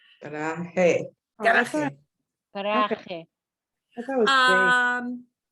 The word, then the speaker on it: garaje: It's not And spelled We have to pronounce it the Spanish way, which is garaje.